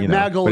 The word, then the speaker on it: Maaghul: Right, so it's Mag, like you put in a gun, but Maaghul it's spelled 2 A's. Maaghul.